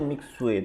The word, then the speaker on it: Mixue: Gue tahu si bacanya tuh Mixue itu ya.